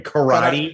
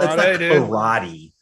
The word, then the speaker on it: karate: And that's the correct pronunciation, by the way. Karate. It's not karate. It's karate. Yeah. Say it right or pay the price. It's like Mai Tai.